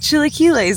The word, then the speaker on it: chilaquiles: And I was like, chilaquiles.